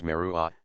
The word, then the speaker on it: Meru: A similar word is found in the country of the Himalayas, and the name of the world mountain, Meru, is pronounced in some dialects as Merua, the letter H being strongly aspirated.